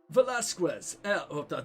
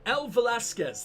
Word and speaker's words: Velasquez: Velasquez. What a horrible pronunciation. El Velasquez. There you go. I actually said Quez.